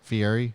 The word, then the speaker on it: Fieri: Guy Fieri. Is that not how you say it? Fieri? It is, but you just became Italian real quick. Fieri?